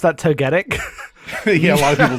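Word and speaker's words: Togetic: called none none well it's not togati uh but J was actually really close it is togga Tick what y to to to I would pronounce that totic yeah a lot of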